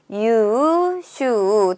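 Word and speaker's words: 優秀: 유슈 둘 다 장음으로 발음하는 걸 체크해 주셔야 돼요.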